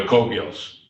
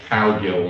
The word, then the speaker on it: Cogill: their 2 sons, the Cogills. When I first came across them, I was pronouncing it Cowgill, and then somebody put me up against the wall and said, Cogill. Okay, Cogill.